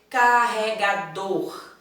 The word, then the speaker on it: carregador: Eu preciso desse R. Como não é comum a gente pronunciar, né? Fala só assim, carregador. Então, esquece, oxi, o R, cadê? Então, temos que pronunciar corretamente. Carregador. Tá? O R está lá, então ele precisa permanecer.